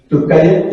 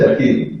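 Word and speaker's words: Türkiye: Turkey? Yes. It's used to say Turkey, but this is Turkey.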